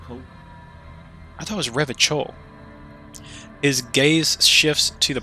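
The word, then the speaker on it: Revachol: i thought it was rev a chol his gaze shifts to the pile of soggy logs at his feet he pronounces rev ah rev a call with the hard k unlike other people look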